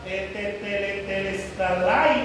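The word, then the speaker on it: τετέλεσται: Esta palabra, consumado es, viene de la palabra griega telestalai, algo así.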